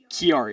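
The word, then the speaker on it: Chiari: awesome so it says and how do you pronounce it kiari okay whereas kiari malformation is a serious neurological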